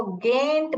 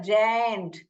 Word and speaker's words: giant: ये बहुत लोग ये प्रोनाउंस करते हैं गैंट करके, ये ग नहीं है, जायंट, जायंट है।